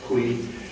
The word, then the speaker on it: Coué: Could pronounce it, it's French, Coué.